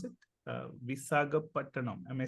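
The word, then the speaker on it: Visakhapatnam: After an epic win by India in what is the correct way to pronounce it? Visagapattanam. Am I saying it right? Vishakhapattanam.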